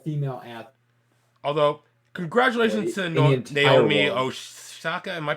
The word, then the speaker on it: Naomi Osaka: Although, congratulations to Naomi Osaka. Am I pronouncing that right?